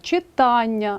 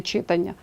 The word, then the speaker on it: читання: міліметр сантиметр третє правило віддієслівні іменники на Аня мають наголошений а наприклад читання а не читання чекання навчання завдання запитання